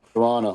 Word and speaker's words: Toronto: Apparently, you're not supposed to pronounce that second T in Toronto. So, Toronto. Yeah. Yeah. Yeah. Yeah. Toronto. Some people just say Toronto, I think.